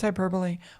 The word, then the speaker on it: hyperbole: It's hyperbole.